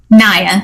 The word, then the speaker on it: Naya: Naya, Nia, what's the correct pronunciation there? Naya.